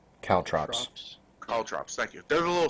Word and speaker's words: caltrops: I pronouncing that right I don't know how it's spelled c-a-l-t-r-o-p-s caltrops call drops thank you there's a little spiky things I